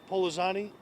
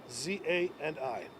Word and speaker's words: Pollozani: Can you say your last name again, please, and spell it? Sure. Pollozani, Pollozani.